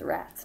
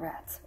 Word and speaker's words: Rats: The name is Rats, not Rats. Rats. Say it right.